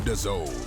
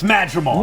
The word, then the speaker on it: Madrimov: Watch only on Majimov. Madimov. All right, it's Madrimov.